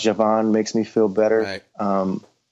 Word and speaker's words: Djavan: makes me feel better djavan I think it's pronounced Javan makes me feel better